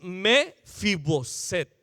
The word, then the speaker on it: Mefiboset: Batallo para pronunciar el nombre. Es Mefiboset.